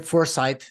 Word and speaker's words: Forsythe: I'm back with Kevin Wadsworth, and we have a very special guest today, Forsythe. Did I pronounce it correctly? Yeah, I mean in Scottish it's Forsyth, I guess, but Oh, yeah.